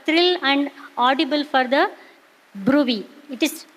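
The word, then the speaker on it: bruit: is palpable for thrill and Audible for the Brey it is b r u but we call as Brey pronunciation is Brey that is we can feel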